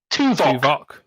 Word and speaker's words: Tuvok: His name sounds a bit like Spock. Tuvok. Spock, yeah. Rhymes with Spock.